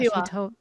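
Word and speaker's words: Wahiawā: Wahiwa.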